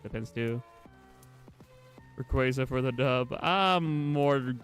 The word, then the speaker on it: Rayquaza: And yeah, I say it like ray quaza because like ray like a laser and then qua like quazar like um you know quaazars being um you know space stuff.